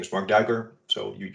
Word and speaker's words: Marc Duiker: My name is Mark Duiker. So you pronounced my last name quite well, actually.